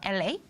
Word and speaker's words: La: 이거는 어떻게 읽어요? LA? 그냥 라요. 라라고 읽어요. 도레미파솔 라. 그 라.